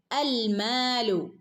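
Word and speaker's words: الْمَالُ: അപ്പൊ നമ്മൾ അ എന്നുള്ള ഉച്ചാരണമാണ് കൊടുക്കുക കേട്ടോ. അൽമാലു. ഓക്കെ, അൽമാലു വൽ ബനൂന, വൽ ഹംസത്തുൽ വസ്ല് നടുക്ക് വന്നപ്പോൾ അതിന് ശബ്ദവും ഇല്ല അല്ലേ, ഫസ്റ്റ് വരുമ്പോൾ മാത്രമേ ശബ്ദം ഉണ്ടാവുള്ളൂ. ഓക്കെ, അപ്പോൾ ഇവിടെ 2 അനക്കം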